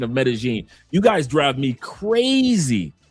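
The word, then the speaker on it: Medellín: Two L's make a G sound. That's why Medigene is not metalene is not meten.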